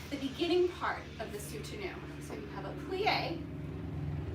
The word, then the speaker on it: Soutenu: Now we'll move on to Soutenu, which is spelled S-O-U-T-E-N-U.